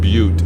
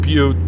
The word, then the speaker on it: Butte: So I was like, of course, you know, they pronounce it butte, but if you're not from around, you know, if you don't know it too well, a lot of people are going to say, but Montana.